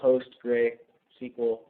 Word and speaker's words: PostgreSQL: Some of them include MySQL, PostgreSQL, that's how you pronounce it, CouchDB, which is actually a NoSQL database, quite a few others.